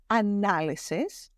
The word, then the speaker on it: analysis: want you to be careful of its pronunciation as it changes when you transform it from a noun into a verb. So the noun is analysis.